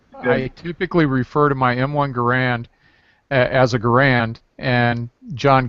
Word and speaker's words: Garand: to correct everybody that the M1 Garand John Garand pronounces his name Garand. So all of you people that are calling it a Garand, you're just all wrong, and you need to go back to school.